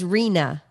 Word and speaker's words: Rina: But it's Rina. Rina. Like think of our, like if you don't say it correctly, you'll have renal failure. Okay. Rina. R-I-N-A, but think of it as R-E-E-N-A. Okay.